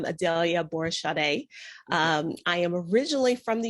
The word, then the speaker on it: Adalia Aborisade: by it but uh in the us if i'm saying my name i'm adelia borishade i am originally from